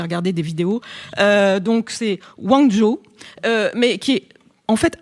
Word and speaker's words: Guangzhou: J'ai aussi regardé, j'ai répété ce matin sur la prononciation chinoise, j'ai regardé des vidéos. Donc c'est Guangzhou, mais qui est en fait assez loin de